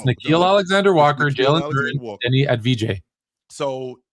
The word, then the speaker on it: Nickeil Alexander-Walker: It looks like it's pronounced Nickel. Well, okay, fine. No, but I can't call him that because that's not the way. That's not his name. No, it's Nickeil Alexander-Walker, Jalen Duren, Denny Advija.